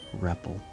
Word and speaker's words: Repel: At first I always thought it was pronounced Repel. You know, understandably, because if you change the P to a B, that's pronounced Rebel, and not, although Rebel is a way to pronounce it, but I think this is a verb. You say rebel. But as a noun it would be rebel.